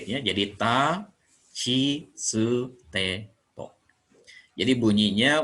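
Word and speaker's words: ち: Kemudian chi. Ini dibacanya chi. Nanti huruf latinnya boleh T dan I saja, tapi bunyinya chi. Boleh C dengan I, ini bunyinya chi, atau T aksen I, atau CHI.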